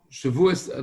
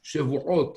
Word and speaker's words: Shavuot: They say Shavuos, you hear Shavuos and Shavuos sound the same. But in Shavuos, there is a Ain, should be Shavuot or Shavuot.